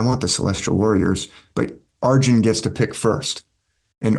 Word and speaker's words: Arjuna: in the mahabarata there's a character named arjin Arjuna is how it's spelled that arjin he's a warrior he knows